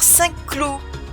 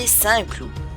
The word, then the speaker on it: Saints Clous: Si tu bafoues la prononciation, tu vas dire Cinq Clous au lieu de Saints Clous. De plus le Q de cinq est muet.